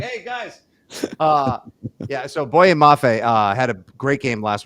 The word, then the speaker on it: Boye Mafe: Is it Bofa Maye? Is that how you pronounce his name? Boye. Boye. Oh, Boye sorry. Mafe. You had the Y. I have it right here in my prep. Boye Mafe.